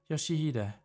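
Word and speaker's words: Yoshihide: Oh, no, that's not how you read those letters. Yoshihida, that's how you say it.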